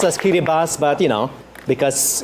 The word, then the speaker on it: Kiribati: K I R I B A T I. That's correct. Or Kiribas. Kitty. It's pronounced as kitty bus, but you know, because it's phonetic and we